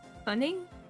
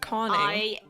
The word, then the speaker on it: conning: Cunning? Like CONNING. Conning. Conning. Okay.